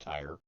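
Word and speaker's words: Tyre: Because Hyram, king of tier or Ty, I've heard it pronounced Ty, provided the labor and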